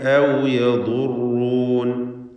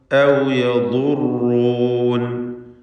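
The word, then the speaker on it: أو يضرون: ഔ യൻഫഊനകും ഔ യദുറൂൻ, ളാദ് റാ ഇവ രണ്ടും തഫ്ഖീം ചെയ്യുക, തടിപ്പിച്ച് ഉച്ചരിക്കുക. ളാദ് ഇസ്തിഅലാഇൻ്റെ അക്ഷരമാണ്. ഔ യദുറൂൻ.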